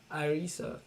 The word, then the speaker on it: Arisa: Arisa is Arisa. You can unmute. What's the name again? Sorry. Yeah, you're right. All right, sir. Arisa. Okay, yeah. I pronounce it in the Yorubatic way.